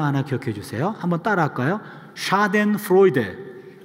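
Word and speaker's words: Schadenfreude: 샤덴프로이데. 예, 여기 신명원 목사님 잠깐 자리를 비우셨네. 예, 오리지널 발음을 좀 들을 기회가 있었는데요. 독일 분이 한 분 계셔가지고요. 샤덴프로이데.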